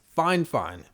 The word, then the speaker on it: Fifine: their own ears because everybody seems to pronounce the company name differently there's fi fine there's fifone i saw a reviewer type in the comments that they actually got the official pronunciation and it's fine fine anyway at the time